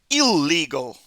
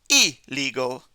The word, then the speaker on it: illegal: So many students see that double L and they say ill, illegal, illiterate, illogical. But it's illegal, illiterate, illogical. So remember that.